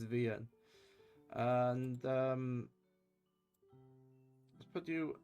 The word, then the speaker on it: VNyan: Okay, that's how the TTS pronounces it. It's Ven.